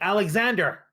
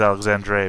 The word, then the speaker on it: Alexandre: It has a French tint, although I did pull it from a Castilian name source, so.